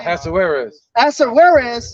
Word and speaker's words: Ahasuerus: Ahasuerus.